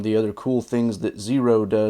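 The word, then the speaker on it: Xero: These are from Zero Shoes. The name Zero is spelled with an X, as you can see, and they have an affiliate program, so I have a link in the description.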